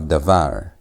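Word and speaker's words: דבר: Next word you have dar again you have dar it's not dar it's dar why because that bed is not a b sound but a v sound it's not having the the gesh so you have dvar and dvar means word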